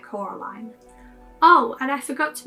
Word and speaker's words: Coraline: perfect mother for coraline coraline hates it when you mispronounce her name while film caroline only gets mildly annoyed when others pronounce her name caroline that's vedanya got a